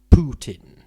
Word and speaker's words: Putin: used to be vladimir putin but now it's but in recent years it's become putin i mean for about the last 10 years i assume because that's nearer to the russian pronunciation which it seems to